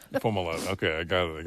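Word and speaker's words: Fomalhaut: a lot that's how you say it foam a lot okay I got it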